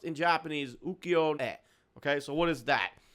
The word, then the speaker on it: Ukiyo-e: It's pronounced in Japanese Ukiyo-e.